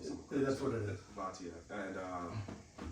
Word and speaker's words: Bhatia: Bhatia, and how everyone's seen him coming up on tour through like the Corn Ferry and all that before.